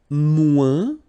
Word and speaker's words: moins: And then, moins. Same thing here. Remember, we don't pronounce the final S. Then you put the adjective que, than, and the rest of the sentence. Okay? Elle est moins rapide que moi.